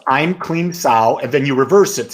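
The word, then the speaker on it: Aim Klim Sauh: And the Bala Mantra is, I'm Kleem Sao. Sao Kleem I'm. I'm going to put that down. It's EIMKLEEMSAU. There's a mantra. It's pronounced I'm Kleem Sao, and then you reverse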